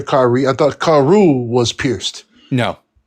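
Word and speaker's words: כרו: I thought karu was pierced. No. So karu, not ka'aru, because there's no Hebrew word ka'aru, which would, if you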